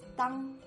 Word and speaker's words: 党: Then the plus ang makes dang. In the third tone, dang